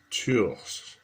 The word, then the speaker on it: Tours: This is the last day of my Saint Martin de Tours fast. I guess they wouldn't pronounce the S on the end.